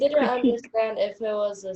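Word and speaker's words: Kritik: You can spell it with a K and do K-R-I-T-I-K, critique, or you can spell it the way we have here.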